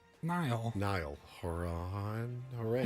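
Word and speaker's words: Niall: that guy's name n Nile Nile Horan Horan not Niles Nile just Nile like like the river in Egypt right but it's spelled differently Nile haran he was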